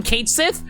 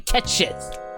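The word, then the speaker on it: Cait Sith: I know everyone calls him Katesith. It's not Katesith. It's supposed to be Ketchith.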